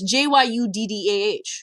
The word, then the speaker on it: Judah: Oh, it's Jyuddah. So I always thought it was Jayuta.